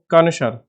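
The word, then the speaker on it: concur: दूसरा है कंजर या कंसर बोलते हैं, कांसर। तो इसका करेक्ट प्रोनाउंसिएशन कानसर, कानसर करके बोलेंगे।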